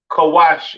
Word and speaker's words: Cush: Cush, pronounced Kawash in the Hebrew, all right?